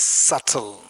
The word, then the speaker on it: subtle: Pronounce it as subtle.